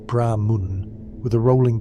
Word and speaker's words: Brahman: Brahman is pronounced Brahma Mun with a rolling G R and the emphasis on the first syllable.